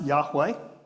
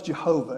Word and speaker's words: Yahweh: It might be pronounced Yahweh, which means I'm going to hell now if I said it right. Which is a shame if you think about it. But in the past, they thought it was Jehovah, and that's the name